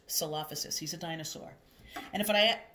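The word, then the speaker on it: Coelophysis: This is pronounced Salophysis.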